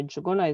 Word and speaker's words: Juguna: Hey everybody, my name is June Juguna, and I know Juguna is really a hard name to pronounce, but it's the N is silent.